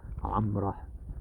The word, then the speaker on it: Gomorrah: Sodom and Gomorrah just summarized it. Amrah is how they would pronounce Gomorrah.